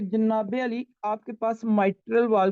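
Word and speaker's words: mitral: तो ये आप लोगों ने प्रोनाउंसिएशन याद रखनी है, मिट्रल नहीं कहना, माइट्रल वॉल।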